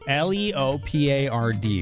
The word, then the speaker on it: leopard: had they not l-e-o-p-a-r-d leopard leopard okay thank you I knew it was kind of weird in spelling versus how it's pronounced at least around here leopard very different from a leper indeed Mr hissy is